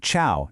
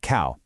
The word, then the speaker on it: ciao: It's a soft cha sound, kind of like the cha in the English word church, definitely not a hard ca. So, think ciao, not cow.